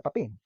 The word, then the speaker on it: papain: So sabi nila, so pag papain, the monomer is cut into 3 parts. So tandaan nyo lang daw, syllables. Papain. Okay, so papain, 3 syllables, 3 parts.